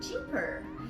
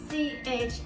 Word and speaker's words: Chipper: My name is Chipper. Cheaper. Not cheaper, but most of my friends call me Cheaper.